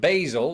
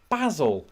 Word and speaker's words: Basil: word of course here in America it's very much pronounced basil like the word hazel now where I'm from it's quite like the name from Fawlty Towers we pronounce it basil has in Basil Fawlty I was a kid